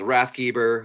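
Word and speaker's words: Rathgeber: a lot of people a lot of people can't say my last name but it's German uh wrath geber is the how you say it in I guess in America but it actually means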